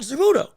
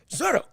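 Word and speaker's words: Zurdo: I've been saying his name wrong. It's not Zerudo though I like the way it sounds. Zero.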